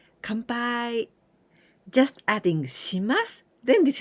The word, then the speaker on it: Kanpai: by come by in the pronunciation is Khan this is and after Pi not come with em come by but Kampai just adding shimas then